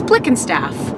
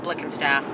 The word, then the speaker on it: Blickenstaff: proud of my name it's a long German last name and I'm hoping by the time I'm dead that people will know how to pronounce it correctly it's Blick and staff so gianina whose name